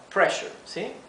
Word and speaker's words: pressure: o presión sanguínea alta fíjense que la palabra pressure tiene doble s ahí verdad e como tenemos la doble s la e se pronuncia cortita pressure low Blood pressure significa